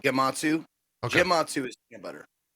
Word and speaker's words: Gematsu: quick reaction jp uh it is it is pronounced gematsu matsu is peanut butter it's peanut butter i